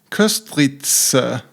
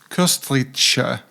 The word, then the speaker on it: Köstritzer: And Köstritzer, I just learned to pronounce it more correctly than I've done previously. Köstritzer, not Köstritzer.